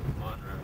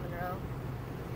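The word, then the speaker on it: Munro: Monroe. Monroe. That's how they say it, not Monroe.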